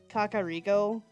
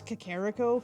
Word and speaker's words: Kakariko: Okay, so I know that it is actually Kakariko. Like, that's how it officially is. That's how they say it in Breath of the Wild. I've pronounced it as Kakariko for so long that it's hard for me to shift to Kakariko.